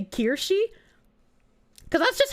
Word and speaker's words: Kirsche: By the way, did I know that Kirsche means church in German? But you didn't spell it Kirche. Kirche is church, and Kirsche is cherry.